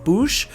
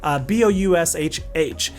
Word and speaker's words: Boushh: I believe the name is pronounced Boushh, or I'm not sure. Boushh.